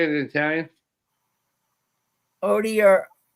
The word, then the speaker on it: Odierna: Odierna. Odierna.